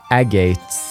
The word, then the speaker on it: Agate: Okay, so it is Agate. Okay, cool. This is a useful resource, and I will reference that later on. I see. So that was Heavy Blade Agate, huh?